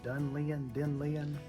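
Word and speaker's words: Dunnellon: Got up Friday morning, went the rest of the way down to, how do you pronounce that? Dunlean? Dunellen.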